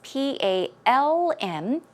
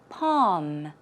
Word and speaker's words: palm: is an l it's p a l m as you can see yes it is not pronounced with an l it is just p a h m a long ah sound palm palm there's no l one